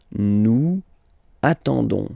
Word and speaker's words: nous attendons: Okay, you don't pronounce the S, so you get only this on sound. Okay, attendons, nous attendons.